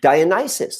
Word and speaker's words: Dionysus: of Greece and like Dionysus is that how I pronounce it I mean yes thank you yeah Dionysus like these are these